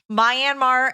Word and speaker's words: Myanmar: Myanmar and Liberia.